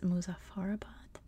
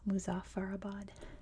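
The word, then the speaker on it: Muzaffarabad: capital of Azad Kashmir is muzafarabad which um is I guess is not how you pronounce it there I think it's more like muzafarabad when you're there but again in American English it would be muzafarabad so that's how I'm gonna say it and yes lots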